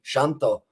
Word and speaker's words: Shanto: also the second one so it is actually shanto for the pronunciation i'll go with that